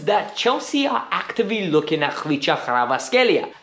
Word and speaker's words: Kvaratskhelia: Chelsea are actively looking atasia yes that is the way you pronounce it coming from a Georgian man that was born in bissi that lived there till the age of five I know how to pronounce that name so learn it and